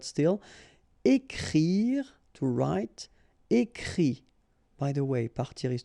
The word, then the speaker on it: écrit: And then the IT, phonetically you pronounce I because final T is not pronounced, but still. Écrire, to write. Écrit.